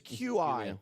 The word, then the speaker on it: Qi: It's Qi.